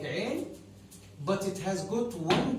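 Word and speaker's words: عين: It's written in the same shape like Ain, but it has got one dot over it.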